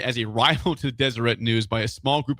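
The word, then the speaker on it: Deseret: He says the Desireette News is pronounced with a hard T. It's not Desiree.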